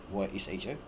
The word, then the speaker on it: Isho: And that's the Aramaic name for Jesus the Messiah, Joshua, or Isho in the Assyrian Aramaic, Ysho, pronounced Isho, or Jesus the Messiah, Yeshua in the Hebrew.